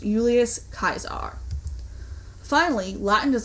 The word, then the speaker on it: Julius Caesar: In English, we say Julius Caesar. However, in Latin pronunciation, the name is pronounced Julius Caesar.